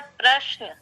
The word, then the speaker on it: प्रश्न: तो यह जैसे मैं प्रायः एक उच्चारण में गलती करती हूँ। क्या गलती करती हूँ? एक शब्द है प्रश्न।